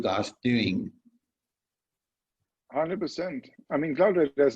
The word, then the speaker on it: CloudRadar: It is CloudRadar, exactly. It's Awesome. like cloud-based, and it's a radar function.